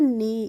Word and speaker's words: knee: हैं नी, इसको हम कनी नहीं पढ़ते हैं। जब भी के बाद एन आता है तो हम वहाँ पे के का प्रोनाउंसिएशन नहीं करते हैं, तो हम इसीलिए इसको पढ़ते हैं नी।